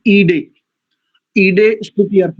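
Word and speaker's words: ईळे: है, इसका शुद्ध उच्चारण कुछ लोग मीडे ऐसा भी करते हैं। वस्तुतः जब पदच्छेद होगा तो अग्निम ईडे, ईडे स्तुति अर्थ में प्रयोग होता है।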